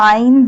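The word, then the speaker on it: عين: Ain pronounced from the middle part of the throat.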